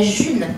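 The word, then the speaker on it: Ğ1: Et c'est donc ce petit rond avec un G et un titre, ça s'appelle la June, en fait. Ça s'écrit G1, mais ça s'appelle la June.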